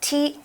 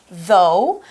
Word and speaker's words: though: Now this word is not spelled like it sounds, so make sure that you spell it with an O-U and a G-H, but you don't say G, you say though. It's silent at the end.